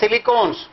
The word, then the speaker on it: silicone: R2SiO enzymes, they are called silicones, rhyming with, they rhyme with ketone.